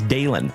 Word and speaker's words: Dalen: Eco, my name is Dalen. D A L E N. Like Dale plus N.